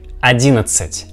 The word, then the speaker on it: одиннадцать: We see this combination, but this combination of these letters we pronounce like ц, ц. Therefore we get words like одиннадцать, одиннадцать.